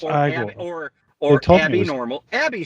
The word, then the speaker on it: Igor: was igore I was it was eor no it's pronounced igore or or Abby normal